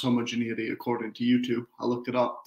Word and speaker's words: homogeneity: to disease uh first of all it is pronounced homogeneity according to youtube i looked it up to